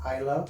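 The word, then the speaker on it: Islay: uh this is from isla in scotland it spells highly but it's pronounced i love so just keep that in mind so next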